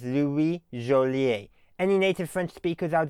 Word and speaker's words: Joliet: And as I understand it, his name should be pronounced in French as Louis Joliet.